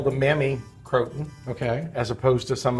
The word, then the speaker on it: Croton: to say it right so crouton to Croton is that's the right way to say it and the Croton is